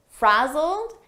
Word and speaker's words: frazzled: looked a little frazzled frazzled here it's a past simple Ed verb but the pronunciation is a very soft D and you almost don't hear it frazzled very soft